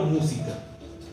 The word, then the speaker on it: música: Ejemplo, música. Música. La mu es la antepenúltima. Por tanto, esdrújula, tildada.